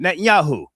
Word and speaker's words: Netanyahu: I don't want to mispronounce his name. Netanyahu.